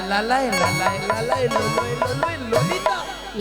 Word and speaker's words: ললিতা: হবে জানো হ্যা আর তুমি ঠিকঠাক উচ্চারণ করো বল ললিতা ললিতা ললিতা লাইনে এসে